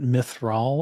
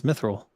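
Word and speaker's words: Mithril: Isn't it Myith or something? Uh, no. It's Mithil. I think he just pronounces it fancy in the movie, but as I recall from the book, it's Mithil.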